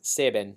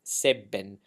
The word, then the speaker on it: Sebben: of the whole song save bin is not saving it save bin okay so you need to remember your double